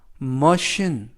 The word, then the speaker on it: machine: 불어나고 있어라는 의미가 되겠습니다 이번 표현은 머신 머신 머신이라고 발음하시면 되겠고요 이때 CH가 발음이납니다 그래서 머신이라고 발음하시면 되겠고요 품사는